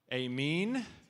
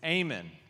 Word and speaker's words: Aman: name is not pronounced am mean there's no R in the name it's not Armen it's Amen good strong amen all